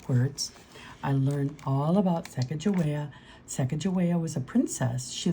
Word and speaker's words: Sacagawea: You say it like this, Sacagawea.